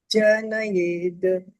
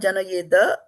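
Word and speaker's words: जनयेत्: Na buddhi-bhedam janayed ajñānāṁ. Not janayeda. There is no A. Where there is no A, we don't pronounce it.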